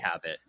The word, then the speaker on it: Cabot: And I apologize to Lori if she listens to this, but is it Cabot or Cabot, or how does she pronounce that last It's name? Cabot.